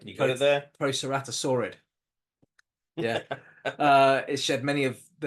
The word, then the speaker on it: Proceratosaurid: Proceratosaurid.